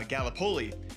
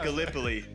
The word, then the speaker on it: Gallipoli: right because being from Iowa, I said uh Galipoli and it's it is pronounced Gallipoli.